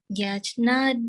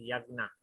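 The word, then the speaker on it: यज्ञ: Yagnat Bhavati Yajnat Bhavati Parjanyo Parjanyo Yagna Karma. Yajnat Karma This is Yagna. Yajna No, you don't pronounce the J. Yagna.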